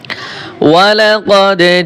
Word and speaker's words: ولقد: ওয়ালাকাদ জিতুমুনা, ওয়াও জবর ওয়া, লাম জবর লা, ওয়ালা কফ দাল জবর কদে, ওয়ালাকাদ। এই দেখেন দালের উপরে জজম রয়েছে, তাই এখানে কলকলা হবে।